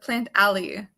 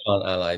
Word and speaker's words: Plantally: Andy Andy is from plant Aly or plant alley how do you say it it's I want to say plant Ally it should be plant Ally but I've kind of